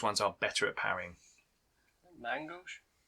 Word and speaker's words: main gauche: Mangosh? Main gauche.